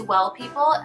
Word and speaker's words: W3LL People: The first is Well People. It's Well, but the E is spelled with a 3, so it's like W3LL People.